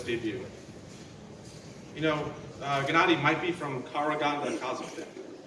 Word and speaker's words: Karaganda: Gennady might be from Karaganda, Kazakhstan.